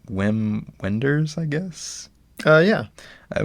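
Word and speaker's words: Wim Wenders: first uh how do you say his name whim Wenders I guess uh yeah it was my first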